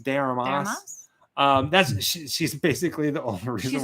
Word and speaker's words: de Armas: Is that how you pronounce the name? De Armas? De Armas.